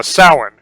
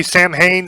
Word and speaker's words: Samhain: Celts and they had a festival called a salhan and if you some people say Samhain some people say salad salad is Samhain Samhain